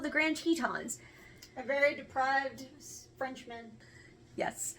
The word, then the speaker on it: Grand Teton: We are going to look at the Grand Tetons, or les Grand Tetons, as they are properly pronounced.